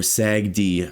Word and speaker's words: SAGD: Increase scale in SAGD oil sands or SAGD as it as it should be pronounced.